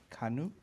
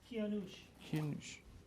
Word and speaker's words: Kianush: And his name is Kanush. Am I pronouncing that right? Kianush. There you go.